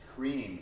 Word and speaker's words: Hrim: Here the mantra is Hrim, H-R-I-M, Hrim, and we'll do Om Hrim.